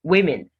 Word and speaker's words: women: in either of them women women not women it's women you have the a sound in both syllables women success success the